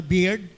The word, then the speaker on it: beard: Tama po ba yung aking pronunciation sa mga ano beard? Kasi dati ang basa ko diyan ay bird eh.